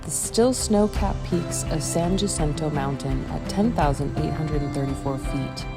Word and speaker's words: San Jacinto: of the day when i realized that i had been mispronouncing the mountain's name the entire trip i now know that it is pronounced san jacinto and i hope that